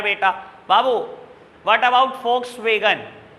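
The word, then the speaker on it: Volkswagen: इट इज a German company और German में वी को FE प्रोनाउंस करते हैं। एड देख लेना, कभी नहीं बोलता वॉक्सवैगन, हमेशा बोलता है फॉक्सवैगन। फॉक्सवैगन है कंपनी का नाम, वॉक्सवैगन नहीं है बेटा, ठीक है जी।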